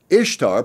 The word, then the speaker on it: Ishtar: The famous historian Will Durant wrote, "Ishtar, pronounced Easter, interests us not only